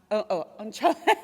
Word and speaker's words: Anh-Tram: It's full spectrum here, and we are very proud to have with us Anh-Tram. Am I pronouncing on? Anh-Tram. Anh-Tram. Your chum.